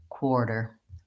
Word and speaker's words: quarter: in the symbol as a little line under the T and it really actually sounds more like a D so if I was gonna write this in a way to help you really see the sounds I would probably put in core der and I would think about long and short quarter quarter you can